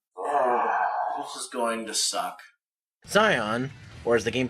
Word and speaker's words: Xion: Xion, or as the game pronounces his name, Xion, is one of the few zoanthropes who wants